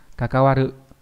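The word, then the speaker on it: 関わる: Kakawaru, đúng nhỉ? Nó là chữ quan hoặc là chữ hệ đều đọc là như vậy hết.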